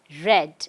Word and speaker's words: read: I'm repeating, when the verb R-E-A-D, read, takes its second form, that is the past tense, the pronunciation changes. We cannot pronounce it as read, but read.